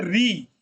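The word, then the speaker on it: ঋ: देख लेते हैं क्या है तो ये है री हिंदी में जैसे री कहते हैं ओमनी हम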